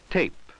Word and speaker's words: tape: say these words again listen for the long a sound in each word that has a final e ready say the word as soon as you see it at eight at8 notice that the final e has no sound of its own pan pain pan pain